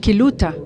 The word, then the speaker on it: Quillota: And when listening to the Quilota's city mayor, Quillota is said or pronounced Quiluta in our country, so similarities, and it means the house of the moon.